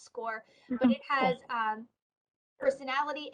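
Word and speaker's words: SCOIR: um it's it's pronounced score it doesn't look like that but it is pronounced score but it has um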